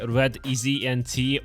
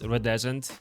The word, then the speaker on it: Redeznt: Did you name your channel like Red Easy NT or a variation of Rodent? Um, actually none of those. My nickname is pronounced as Redeezant. And this is basically a remake of the word iridescent.